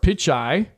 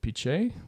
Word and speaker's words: Pichai: Sundar Pichai, I think that's how you pronounce it, Pichai, claimed that putting content in the AI box